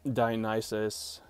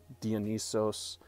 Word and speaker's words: Dionysus: to address the gods you can call him dionysus dionysos hermes hermes it sounds cooler i guess if you do the greek or the greek pronunciation but it's not a